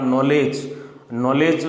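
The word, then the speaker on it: knowledge: जैसे कि आप नॉलेज बोलते तो अपन न से हैं, लेकिन स्पेलिंग जो शुरू होता है वो के से शुरू होता है।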